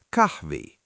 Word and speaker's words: Kahvi: It sounds like the 'ee' in "feet." If you want to say "coffee," it's Kahvi.